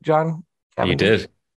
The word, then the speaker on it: Cavendish: Did I say that right, John You Cavendish? did. Not the right Fantastic. accent, but right pronunciation.